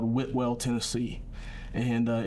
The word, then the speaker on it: Whitwell: this little town called Whitwell Tennessee and uh if you're from there they say woodwell I don't know how they spell it but that's how they say it and they're just happened